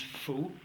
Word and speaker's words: Folx: Il s'écrit d'ailleurs Folx, F-O-L-X, ça se prononce faux, et ça vient du latin fauces, qui veut dire gorge.